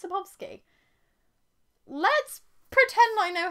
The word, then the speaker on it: Sapkowski: books of by swalski this is sapkowski have i been saying that wrong this whole time i thought it was sapovsky let's pretend i know